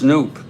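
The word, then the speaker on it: Knoop: there's one away here's noop Bobby noop Bobby supposed the K is silent woo oh oh folks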